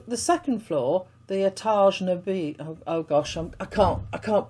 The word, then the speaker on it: noble: And apparently this is how you pronounce noble in French.